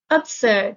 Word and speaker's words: absurd: evident visible obvious absurd absurd the stress is on the second syllable this is an adjective